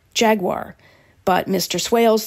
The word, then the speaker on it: Jaguar: where he creates meticulously engineered cars inspired by Jaguar's 1966 sj3 lemon's prototype he says he never